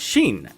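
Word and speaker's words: שין: If the dot is on the right, it's shin and pronounced with an sh sound.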